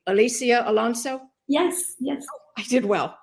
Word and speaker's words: Alicia Alonso: I hope I pronounced her name correctly. Alicia Alonso?